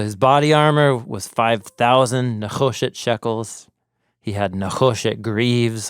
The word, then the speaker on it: nechosheth: He has a Nechoshet helmet on his head.